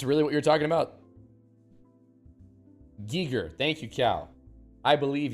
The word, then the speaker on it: Giger: Is this really what you're talking about, Giger?